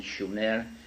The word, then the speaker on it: Sumer: called sooner in in the correct spelling and pronunciation sooner which meant the length of the Guardians in